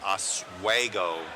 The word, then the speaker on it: Oswego: It's Oswego, Illinois, around that area.